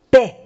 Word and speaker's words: paix: No se pronuncia la X. Paix.